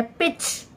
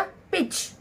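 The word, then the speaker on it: pitch: ऐसे ही डिच, डिच, तो हमारा टी साइलेंट है। पिच, पी आई टी सी एच, क्या बन गया? पिच।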